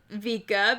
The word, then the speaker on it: Vika: and uh you know i say it like vika because you know if pikachu goes pika that's how you spell pika so vika vika chew vika